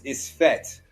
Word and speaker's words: isfet: This dot emphasizes either a long E or an I sound or a Y sound. So the A becomes a E, that type of sound. So now it becomes ISFET.